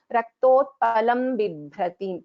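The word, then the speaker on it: रक्तोत्पलं बिभ्रतीम्: I won't pronounce this with a nakara, nyakara, anything. I will be pronouncing this as, because ma is the last letter of the Pavarga. Raktotpalam Bibhratim.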